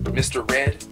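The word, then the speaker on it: Mistah Redd: to just Mr red I spelled it out um m i s t a but you know that's kind of how everybody in the hood pronounces it you know say Mr Mr red you know it's more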